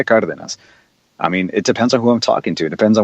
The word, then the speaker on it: Cardenas: you know for instance pronouncing my last name correctly is like God within us you know but I don't I don't introduce myself as hello my name is Felipe Carter than us I mean it depends